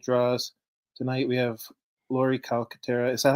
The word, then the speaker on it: Calcaterra: Tonight we have Laurie Calcaterra. Is that how you pronounce it? Mhm. Calcaterra.